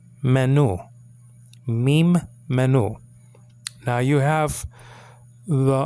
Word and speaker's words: mem: okay okay fine a US is M menu meem menu now you have the um it's spelled out like this there's an M here